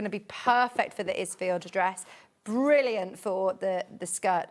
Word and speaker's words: Isfield: Have I pronounced that right, Yes, Isfield? Isfield.